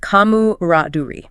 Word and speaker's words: camaraderie: Pronounced kamu raduri. Kamu Raduri. That French influence on the final re sound is important for getting the articulation right.